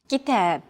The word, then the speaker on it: كتاب: كتاب. كتاب. Notice that the second syllable is stressed. It's pronounced longer and louder, while the first and final syllables are shortened.